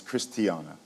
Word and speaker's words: Christiana: And let me be clear, I mispronounced her name. It's Christiana.